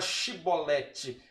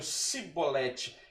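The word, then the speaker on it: Shibboleth: É quando os gileaditas, né, agora esperando os efraimitas em fuga, eles diziam, como é que se pronuncia a palavra Shibolete? E eles diziam Sibolete.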